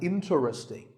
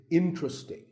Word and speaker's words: interesting: number 11 is interesting this is mispronounced sometimes as interesting but there are only three syllables in tra sting and the stress is on in so the word is interesting number 12 is hotel